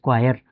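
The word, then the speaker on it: choir: इसकी जो प्रोनाउंसिएशन है दैट इज क्वायर।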